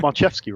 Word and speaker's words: Marczewski: So you got Marczewski right. It's the one that gets everyone. They all kinds of pronunciations.